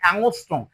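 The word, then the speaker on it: angstrom: এর উপর একটা জিরো দেওয়া আছে না, এর উচ্চারণ হবে অ্যাংস্ট্রম।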